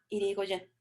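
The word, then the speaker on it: Hirigoyen: Se escribe Marie, M-A-R-I-E, Marie Irigoyen, y el apellido es H-I-R-I-G-O-Y-E-N, Irigoyen.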